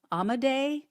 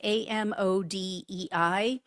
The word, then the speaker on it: Amodei: And his name is, I think it's pronounced Mark Amadei. It's Amodei.